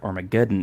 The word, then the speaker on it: Armageddon: research about this that the word armageddon is uh pronounced the same in english and russian oh wow so that's